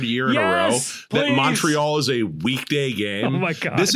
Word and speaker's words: Montreal: You got if you're a ball miller you got to pronounce it like you're actually from Canada. It's Montreal. Montreal.